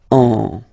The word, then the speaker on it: on: goes in your nose, and then you get the sound on. Okay, if you listen carefully, well, basically you don't listen, or you don't hear, sorry, any N in my pronunciation.